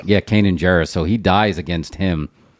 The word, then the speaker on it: Kanan Jarrus: Kanan Jarrus. Yeah, Kanan Jarrus.